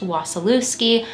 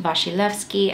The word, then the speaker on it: Wasilewski: it would be pronounced wasillewski but it is a polish last name and it is pronounced vashilevsky i did a little